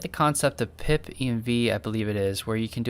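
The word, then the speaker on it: pipenv: Yeah, the I do like pip env. That's the way I pronounce it.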